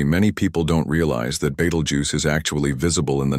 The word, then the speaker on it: Betelgeuse: This giant is a red super giant known as Beetlejuice. sometimes mispronounced as voju or vtoru, a stellar enigma whose sheer size, unpredictable behavior, and pulsating nature continue to puzzle scientists.